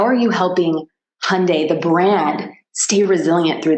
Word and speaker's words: Hyundai: can't say Hyundai right actually Hyundai is not the right way to say it that they tell us to say it this way so we don't really ruin it Hyundai like Sunday but you know it's